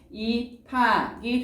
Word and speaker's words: 입학: 입학은요, 여러분 지금 어떻게 되냐면 비읍하고 히읗이 만나서 뭐로 줄어들어요? 피읍. 잘했어요. 그래서 최종적인 발음이 입학이 되는 거죠.